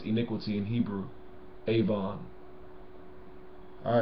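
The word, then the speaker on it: עָוֹן: for yourself avo in iniquity that's how you pronounce iniquity in Hebrew Avon all right uh okay another one fornicators biblically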